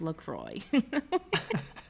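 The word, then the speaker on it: LaCroix: in between us and he goes um it's pronounced lroy man and we're like uh we know L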